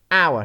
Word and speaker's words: hour: Silent H, what? Honest, not honest. White, hour, not hour. So hour, white, honest, what? So you're not gonna pronounce H. You're not gonna read H in any of these words.